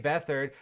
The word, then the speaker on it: Beathard: You pronounce the TH in the middle of his name as you would pronounce a TH in almost any word in the English language.